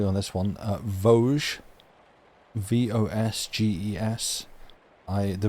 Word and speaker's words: Vosges: If I've been led correctly on this one, Vosges. Vosges. The Vosges Mountains.